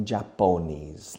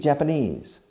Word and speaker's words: Japanese: Well, they speak Japanese, no Japonese, like many Spanish people say. They speak Japanese.